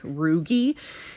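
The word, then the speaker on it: rugae: tissue component called roogie the a is silent roogy and roogy are folds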